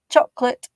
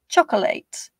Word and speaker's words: chocolate: In English, they are pronounced with stress timing. So one of those syllables is pronounced more strongly than the other. Chocolate, vegetable, comfortable.